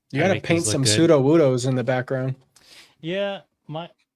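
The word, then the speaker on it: Sudowoodo: How do you pronounce pseudo-woodo, by the way? I'm putting you on blast. Pseudo-woodo. Okay, I heard someone call it pseudo-woodoo, and I think I wanted to, like, I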